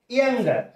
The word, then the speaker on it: younger: When এখানে h কাটা when I was when I was younger যখন আমি ছোট ছিলাম এখানে r letter টি silent letter okay so I could